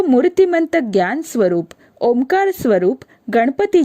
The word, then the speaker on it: ओम: ओम यह शब्द 3 वर्णाक्षरों से और एक आधे अक्षर से मिलकर तैयार हुआ है। अ, उ और म यह 3 वर्णाक्षर और ओम के उच्चारण में जो अर्ध बिंदु या चंद्र बिंदु आता है उसे ही आधा अक्षर माना गया है।